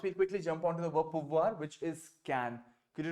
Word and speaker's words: pouvoir: See, OU is oo. OU का sound होता है ऊ का sound. तो POU हो जाएगा poo, right? POU हो गया poo. And VOIR में OI का sound आपको याद होगा ua. OI is ua. So VOI हो जाएगा voix. So pouvoir is the sound that you have. Pouvoir. Right? आपको R तक touch करना है.